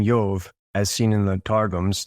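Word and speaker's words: Ἰώβ: Yove, so he's so I'm going to say Yove because that's how it's pronounced in Greek. It would look like iota omega beta. And so it's Yove.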